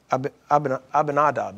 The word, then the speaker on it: Abinadab: Abinadab? Yeah. Abinadab. Abinadab actually is more the way it's supposed to be pronounced.